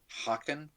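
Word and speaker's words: Haakon: i'm pronouncing it right hawkin i guess with a hard h i don't know all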